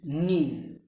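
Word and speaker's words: knee: K N double E নি। কে এর পরে মানে খে এর পরে যদি এন থাকে সেই ক্ষেত্রে খে উজ্জ থাকে বা নীরব থাকে অথবা সাইলেন্ট থাকে।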